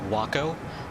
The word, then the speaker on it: Waco: in real life the the waco was actually pronounced wacko i think it's the